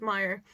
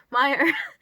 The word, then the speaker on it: Meyer: But given that he's German, I'm pretty sure it's Meyer.